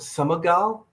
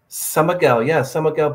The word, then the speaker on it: São Miguel: Are you like around Summergal in Portugal?